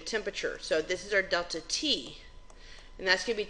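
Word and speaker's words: ΔT: the change in so Triangle T is says delta T is how you say it and it means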